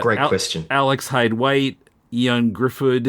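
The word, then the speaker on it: Ioan Gruffudd: Alex Hyde White, Ian Griffid, if I'm pronouncing that right, Miles Teller, Yan Griffid. That's right.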